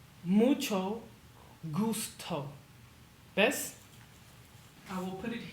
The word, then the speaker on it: mucho gusto: Mucho gusto. Pretend it's spelled like this. Mucho gusto.